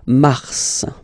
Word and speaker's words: Mars: okay then Mar okay so in a way it's an exception because normally final s is not pronounced in French okay we've got some exceptions and this one is one of them so Mar pronounce the final s mar mar okay then ail ail ail